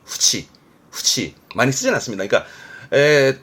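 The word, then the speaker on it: 付置: 발음은 후치, 후치 많이 쓰진 않습니다.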